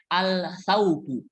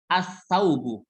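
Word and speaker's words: السوق: yang kedua baju jangan bacanya Al sauhu Al saugu jangan ini salah Tapi bacanya as-saugu Alif lamnya tidak terdengar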